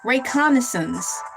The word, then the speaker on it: reconnaissance: Uh, reconnaissance. What is it? A pronounced like a and above. Above.